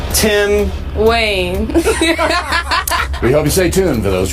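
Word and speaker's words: Kaine: candidate is Tim 90 rhymes with Bain Tim Wayne we hope you stay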